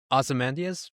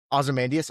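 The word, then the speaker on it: Ozymandias: Ozamandias. Osamandius. Omandius.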